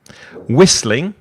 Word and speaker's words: whistling: Roseline whistling mhm and then whistling so the H is silent whistling mhm the next one